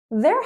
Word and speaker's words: their: There, and there sound exactly the same. There is a problem. Their house is pretty.